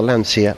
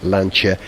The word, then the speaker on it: Lancia: Saying it right, not a Lancia, Lancia, and it's red, of course.